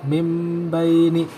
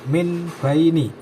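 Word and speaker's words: مِنْ بَيْنِ: bertemu dengan huruf ba cara membacanya nun sukun pada Min ya diubah menjadi mim sukun sehingga dibaca mim baini bukan Min baini ya Nah tanda dalam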